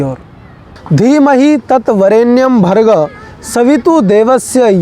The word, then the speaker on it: धीमहि: आपको ध्यान रखना है ध को द बोल दिया जाता है धी मही है दी मही नहीं कई जगह पर द